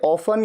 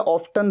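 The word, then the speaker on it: often: You would be going to Mussoorie अक्सर के लिए वेरी ऑफन या फिर अक्सर के लिए ऑफन या ऑफटन दोनों तरीके से प्रोनाउंस किया जाता है।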